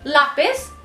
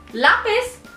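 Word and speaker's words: lápiz: laugh is okay so because we have this accent mark on top of a we would put more stress on a so it would be L lapis lapis in Spanish it would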